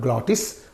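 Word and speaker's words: glottis: the the space between vocal cords is called glotis okay that is pronounced from there so here air flow is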